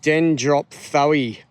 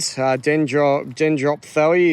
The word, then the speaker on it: Dendrophthoe: But we've got dendro in there, which means tree. And then we've got sort of a PHTHOE at the end. Dendrophthoe is how I've heard some people pronounce it.